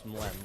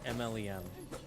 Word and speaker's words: Mlem: And I'm kind of mean to Claire for doing this, but she could not pronounce Mlem when she saw it. She just kept calling MLM. She's like, "That's not a word."